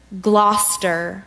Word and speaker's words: Gloucester: but can you say it one more time Gloucester Gloucester Gloucester Gloucester no Gloucester can you step